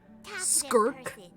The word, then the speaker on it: Skirk: that's how it's pronounced skirk it sounds like I'm disgusted at something like e like skirk